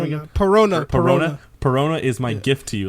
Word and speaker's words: Perona: Perona is my gift to you.